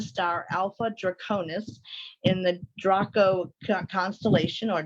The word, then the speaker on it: Draco: Alpha Draconis in the Draco constellation, or Draco, as some people pronounce it as. The true pronunciation is supposed to be Draco, with that little tongue roll thing.